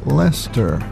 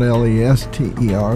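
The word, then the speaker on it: Leicester: which Lester came is Lester like it was spelled l e s t e r but it's not it's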